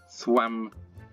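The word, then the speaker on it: Cwmafan: No, it's not Qua. It's like C, isn't it? Swamafan. Sounds right, Swamafan.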